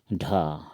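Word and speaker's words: ঢ: ढ, ढ को असमिया में ढो कहते हैं, लाल अक्षर में जैसे लिखा हुआ है ढो हिंदी में, तो उच्चारण है।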